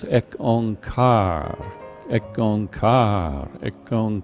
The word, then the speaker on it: Ek Ong Kar: And the stresses on the syllables is shown there as ek ong kar, ek ong kar, ek ong kar.